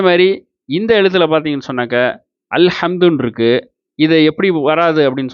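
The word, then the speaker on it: الحمد: இதை எப்படி உச்சரிக்கணும்னு சொன்னாக்கா அல் ஹம்து அப்படின்னு உச்சரிக்கிறோம், சரிங்களா?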